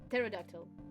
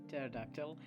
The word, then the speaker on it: pterodactyl: say not wait uh the p is silent pterodactyl pterodactyl most would say nonexist